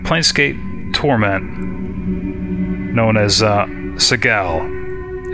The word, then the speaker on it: Sigil: torment known as uh Seagal is pronounced with a hard G as well that was a surprise for me it's not sigil it's Sigel thanks thanks to a